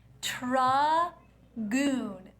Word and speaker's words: Tragoon: notes this is clearly tra goon t r a g u n tragoon rhymes with Dragoon are you not hearing